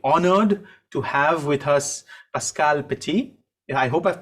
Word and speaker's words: Pascale Petit: are very very honored to have with us pascal petty i hope i've pronounced that i hope i haven't mangled your